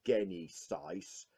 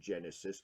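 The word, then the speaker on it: Genisys: the machines salvation and gain east ice and yes I refuse to pronounce it Genesis because that's not how it's spelt but you've got him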